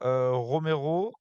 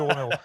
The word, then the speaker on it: Romero: dans le rette il semble qu'on dit pas Romero mais qu'on prononce tuas écorcher le nom qu'on dit cette petite de romerro voilà c'était juste une petite correction voilà mais